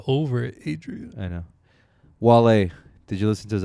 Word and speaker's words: Wale: Wale, did you listen to his album? No. Jeez. I hate his name. Why? Should be pronounced whale. Well, no, because it doesn't have an H.